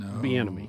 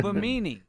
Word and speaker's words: Bimini: found a universal replacement Benemy. No. Oh, Bimini. Is that how you say it? Bimini? It's like bikini, from what I could find here.